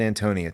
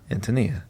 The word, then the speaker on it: Antonia: say read the note the note says the boho bohemian name is strongly accented on the first syllable so we're all doing that I said Antonia too but then I